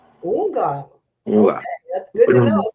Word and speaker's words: Houngan: It's like the H is silent, so like Houngan. Houngan. Okay, that's good to know. Thank you. Okay, we have some questions for you. So marry me, Houngan Sen Jak.